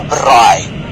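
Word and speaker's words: braai: leave Cape Town Without experiencing a BRI you have to say it like that which literally translate to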